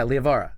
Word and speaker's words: Liavara: Yeah, Liavara.